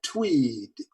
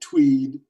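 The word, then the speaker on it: TEWD: My idea is something that I call tweed. And I spell that tweed, T-E-W-D, tweed. And that tweed stands for treat everyone with dignity.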